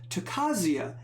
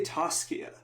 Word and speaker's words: Tocasia: at the takasia uh the name you always mispronounce which I do I used to say toscia I guess I'm missing I'm mixing the S and the C but added a couple